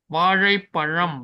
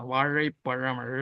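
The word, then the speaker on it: வாழைப்பழம்: It is not there in Telugu. It is only there in Malayalam and Tamil. Vazhaiparam, we say for banana. Vazhaiparam, ra, ra.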